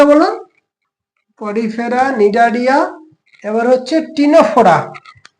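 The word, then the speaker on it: Ctenophora: Porifera Cnidaria এবার হচ্ছে টিনোফোরা same spelling C টা এখানে silent T সি টি ই এন ও পি এইচ ও আর এ আচ্ছা Cnidaria কি দেখেছিলাম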